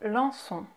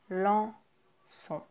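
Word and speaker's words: Lanson: Next you have lançon, lançon, lançon. Again with the nasal sounds, right? Lançon. So A-N is en. And O-N is on. En, on, lançon.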